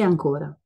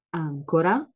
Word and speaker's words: ancora: il principio il principio queste parole si chiamano omografi sono parole che si scrivono nello stesso modo ma si pronunciano diversamente e hanno un diverso significato Come si chiama questa